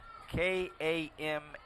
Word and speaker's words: Kamari: and um the quarterback's first name is Kamari k-a-m-a-r-i Kamari and he has a hyphenated last name